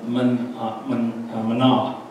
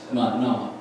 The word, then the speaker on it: Manah: And Manah, because it has a single N, it's a little shorter, Manah. And it's kind of Manah, two syllables there, Manah.